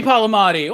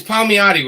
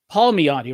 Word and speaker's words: Palmiotti: up how you doing it's palmiati robert i know you want to say pop i i don't know how you just pronounced it but everyone screws up my name paul meody right there you go yeah yeah there you